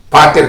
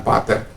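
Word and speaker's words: πατήρ: Kalau orang sering katakan pater, tapi dalam pembacaan pronunciation-nya adalah patir, karena ada ita di situ, bukan epsilon, ita.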